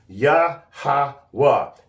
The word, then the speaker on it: Yahawah: text in other words the real pronunciations it's going to be yahawa and when you look at the characters it would be yahaa and waha together is W yaha yahawa so no it's not you yahu or yahushua I'm so